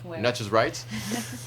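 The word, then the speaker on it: Nature's Rights: de nature nature's right je le prononce bien faut le proncer à l'américaine nature right euh et du coup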